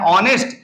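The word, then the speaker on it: honest: शुरू कर रहा हूं, एच हमारा साइलेंट है तो ओ है, तो ओ इसमें है भी और इसकी शुरुआत भी यहां से हो रही, तो इसको मैं पढ़ता हूं ऑनेस्ट, इसलिए इसके पहले एन ऑनेस्ट लगेगा।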